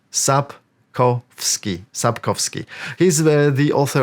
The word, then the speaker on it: Sapkowski: vak vak Okay next one Andre again not sapkowski at as many Americans say as you can see it's a very